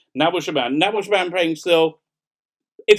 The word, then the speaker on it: Nabil Shaban: Should be pronounced Nabil Shaban.